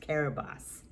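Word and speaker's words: Kiribati: nation of carib carabas it's spelled k-i-r-i-b-a-t-i but pronounced caribos located in the pacific i've never heard of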